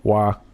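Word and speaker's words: hoa: Another side note, Hua is the same in Vietnamese, only it's with an O, H-O-A, Hua.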